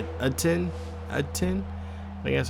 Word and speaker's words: Etienne: I think I said last episode, I think you don't say ETN. It's Etienne.